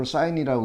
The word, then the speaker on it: sine: 그러면은 요 앵글 시타도에 대한 sin, sin이라고 쓰고 요걸 sine이라고 읽죠.